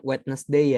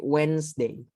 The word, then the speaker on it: Wednesday: ini agak ribet ribet one day one day nya nggak dibaca Wednesday bukan Wednesday ya temen-temen tapi UN Day luarnya Rabu habis itu